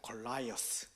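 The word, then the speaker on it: Goliath: 영어에 보면 영어 성경 읽어보면 뭐 골리앗, 저희는 골리앗인데 골리앗인 줄 알았는데 영어로는 골리앗이 아니더라고요. 골라이어스. 미국식 발음. 목사님 이렇게 맞나요? 미국식 발음? 골라이어스.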